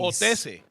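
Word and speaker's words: Hotesse: Hatis? We don't pronounce the H. Otis. Otese.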